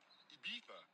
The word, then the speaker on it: Ibiza: I just went to Spain, that's a Ibiza. Ibiza. Yeah, it's pronounced Ibiza, actually.